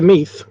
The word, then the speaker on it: Meath: i could go to meath it's just like it's spelt like meth east meath or esmuth